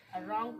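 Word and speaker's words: wrong: रॉन्ग को पढ़ेंगे। यहां डब्ल्यू आपका साइलेंट है।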